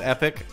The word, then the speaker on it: Epoch: When they arrive in 601 AD, thanks to the I think it's actually pronounced Epic, but I've been saying Epoch since I was a kid, and I've broken my brain.